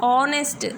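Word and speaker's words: honest: हो रहा है लेकिन जब हम इसे प्रोनाउंस करते हैं तब ऑनेस्ट, ओ निकलता है ना, तो इसीलिए इससे पहले एन लगा है।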